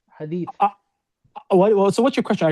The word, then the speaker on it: hadith: It should be hadith with the tha, but some people have a hard time.